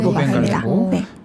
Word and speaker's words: 루벤 갈레고: 그리고 어 지금 중간에 파란색이 루벤 갈레고라고 읽어야 되고 루벤 갈레고.